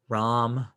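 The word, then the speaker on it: Rahm: this two weeks ago how to say his name when he got coveted remember oh right rom yes john wrong time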